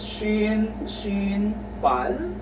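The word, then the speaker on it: 신발: But in the second example, which is shin, bal, the sound of the real consonant is letter L.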